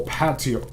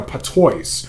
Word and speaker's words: patois: jabbering in some hateful guttural patio you know patois i could not identify let me pronounce that patois okay meanwhile croaking and